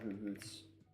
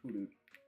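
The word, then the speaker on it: Hoothoot: I'm getting a lot of hoohoots. I don't know why I pronounced the H's so much. Huloot. I think is how most people pronounce it.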